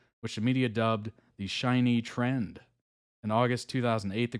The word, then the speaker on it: SHINee: so this looks like it is shiny is how it's pronounced I think yeah I